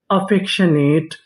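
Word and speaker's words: affectionate: अफेशनेट अफेक्शनेट अफेक्शनेट अफेक्शनेट का मतलब होता है प्री यानी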